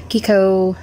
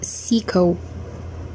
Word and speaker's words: CICO: one i asked them how this is really pronounced because i i've been hearing some reviewers like calling it kiko some others say psycho cico now finally um i was told by